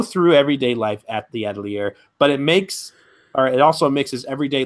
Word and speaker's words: Atelier: It's not actually Atelier. It's Atelier. You don't pronounce the R.